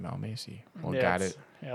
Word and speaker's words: Almasi: It's Almasi. Yeah, Almasi.